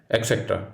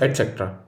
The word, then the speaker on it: etc: had developed into s the next word is etc no it is wrong the correct pronunciation for this word is etc latin for and et the rest etc are actually two words